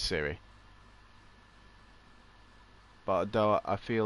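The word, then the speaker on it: Ciri: not Cersei, In The Siri, Witcher. Siri, but spelled with a C.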